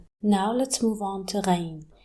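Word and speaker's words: غين: The closest sound to it in English is the letter G. So if you can't pronounce it, just use G. Or the French R, like in the word rose, ra. It sounds just like the noise you make when you gargle.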